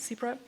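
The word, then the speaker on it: CEBRA: Mikkel Frost is an exceptional architect and founder of the internationally acclaimed studio Zebra Architecture. Do you pronounce it like that, Zebra?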